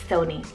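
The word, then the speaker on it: Sonny: Then I have Sony, spelled S-O-N-N-Y, Sony. You can also pronounce it as Sunny as well, but it's English rooted, meaning sun.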